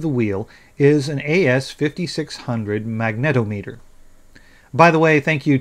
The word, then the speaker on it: magnetometer: I was calling it a magnometer. Apparently, I've never heard the word before and never read it correctly either. So, it's a magnetometer.